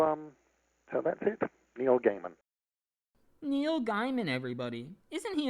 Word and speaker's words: Gaiman: name is Neil Gaiman I've heard my name pronounced various different ways uh Gman is very popular but it's definitely Gaiman it's the kind of name that started off